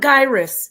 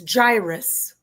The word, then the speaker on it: gyrus: It's by the way, it's not gyus. It's gyrus. It's a ridge.